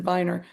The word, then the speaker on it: Wagner: And this is besides Pixley and Michael Pixley and Alejandro uh, Wagner, but really Mm. you pronounce it Viner, at Daisy Fresh Hmm.